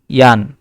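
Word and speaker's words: Jan: ভি হাইস টু, মানে what is your name, তা এখানে লিখছে ইস হাইসে ইয়ান, মানে আই এম কল্ড জান। ঠিক আছে? জে কে ওয়াই এর মতো উচ্চারণ হবে।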